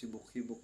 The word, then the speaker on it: hibok-hibok: apostrophe talaga iyan e hibok-hibok in my region Northern Mindanao we pronounce hibok-hibok with exclamation point may exclamation point talaga yang hibok-hibok at ang ibig sabihin